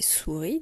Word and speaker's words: souris: Alors le mot une mot de la tortue est souris, deux syllabes, sou et ri, et je n'oublie pas le S muet à la fin.